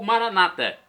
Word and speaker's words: Maranata: E agora eu clamo Maranatá, como dizemos nós católicos, com a tônica na última sílaba. Ou Maranata, com a tônica na penúltima sílaba, como dizem nossos irmãos separados, os evangélicos ou protestantes.